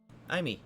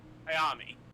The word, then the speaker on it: Ayami: So, Aimi. Is it Aimi or? Ayami. Ayami. I probably did not spell it correctly, but it's how I always pronounce it.